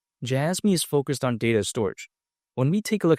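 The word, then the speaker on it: Storj: either say scoin or storage right but it's spelled like storage a but some people call it storage but yeah besides that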